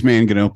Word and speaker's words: Mangino: It's Mangino. Please say Mangino. Make my night. Dr. Mangino?